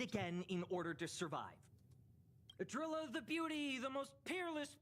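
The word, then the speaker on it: Idrila: Eon of beauty well you know it's pronounced adilla now right so but of course I repeated it again in order to survive adilla the beauty the most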